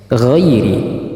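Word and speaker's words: غَيْرِ: Nah di sini juga ghairi bersih ya tidak boleh G tetapi ghairi giril giril mag jangan Ee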